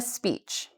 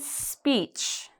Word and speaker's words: speech: Excellent a speech. Again, I don't want this E. So I'm going to rewrite it into excellence with a CE and peach.